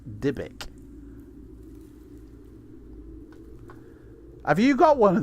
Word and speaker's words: Dybbuk: It's a box that used to catch evil spirits, pronounced Dybbuk.